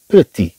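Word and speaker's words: petit: طبعا هو مذكر، اذا طبعا نقول هنا بيتي، بيتي، هذا الطي ما تنطقش. لكن اذا تكلمنا عن بيتيت مينا، اذا اضفنا هنا هذا الطي تنطق.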